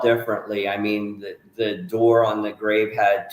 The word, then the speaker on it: Dorr: Like the way you pronounce Dorr with the umlauts is different than Dorr the way I pronounce it.